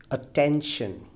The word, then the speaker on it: attention: four syllable word third attention attention now here clearly the stress falls on the second syllable for syllable word attention